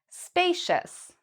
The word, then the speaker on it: spacious: Spacious. Spacious. So what do you hear in this one? Do you hear cius, or do you hear shus? Spacious. Again, the answer is the second one.